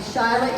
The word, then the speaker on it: Shyla: Hi, and Shyla is not spelled at all the way it's pronounced. I was going to ask you about that. So it's not Shyla. Actually, it's spelled like Sheila, but Yeah. it's supposed to be Shyla, and someone in my family just didn't know how to spell real well.